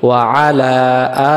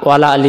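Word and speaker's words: وَعَلَى: এরপর আমরা বলি কি, ওয়া আলা আলি মুহাম্মদ। ওয়া মানে এবং, এই যে শব্দটা যেন আমাদের ভুল না হয়, আলা আলি ওয়ালা আলি যেন না হয়।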